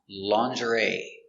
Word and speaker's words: lingerie: This word has a strange pronunciation because it comes from French. And it is pronounced lingerie.